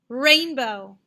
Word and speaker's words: rainbow: One more, rainbow. Rainbow. Again, the first syllable.